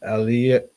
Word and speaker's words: Elioenai: son of Asiel, and Elioenai, and let me see how that's pronounced. But Elioenai. Yeah, that's how it's pronounced. But Elioenai. Va is and, right? So it's just Elioenai.